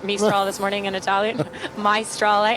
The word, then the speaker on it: Maestrale: Maestrale, and that's how it's spelled as well, like Meister.